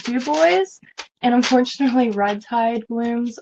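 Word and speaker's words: Dubois: ever in Florida and D boys is spelled duu b o i s it's the ocean so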